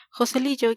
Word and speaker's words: Joselillo: Joselillo, que así pronunciamos los andaluces, se pasaba allí como